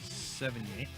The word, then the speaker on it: Sevigny: Sevigny. Ziggy, just So- go ahead and say how to say her name. 70. It's like 70, but knee instead of T.